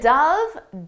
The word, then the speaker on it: dove: The dove dove into the water.